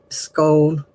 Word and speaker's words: scone: We had tea, we had little sandwiches, a scone or a scone, whichever way you pronounce it, with jam and thick clotted cream.